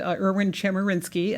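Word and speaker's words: Chemerinsky: really remarkable people but as Dean Meyer said irn chinsky and that is how you say it right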